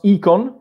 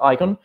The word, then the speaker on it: IKON: As you can see, I pronounce IKON because the written in this way comes from Esperanto, but the root is a Greek root and the pronunciation is IKON, not icon. And also because communicon, you don't say common icon, so that's why I pronounce like that.